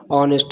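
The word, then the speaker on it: honest: ऑनेस्ट पढ़ा जाता है, एच वर्ड यहाँ साइलेंट होता है। तो यहाँ पे जो एच का संबंध होगा वो सीधा का सीधा ऑनेस्ट से होगा।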